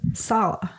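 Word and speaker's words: Saleh: Salah.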